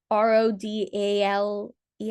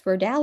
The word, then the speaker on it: Rodale: Um, Rodal's R O D A L E S. Rodell or Rodale. Rodell. I always pronounced it Rodell, but maybe it's Roddale.